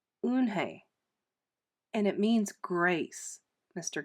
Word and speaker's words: Unhei: turning around it was joey your name is unhi he said with his eyes open wide luan hay looked quickly at mr kim then turned to joey she nodded slowly yes it's pronounced unhei and it means grace mr kim added joey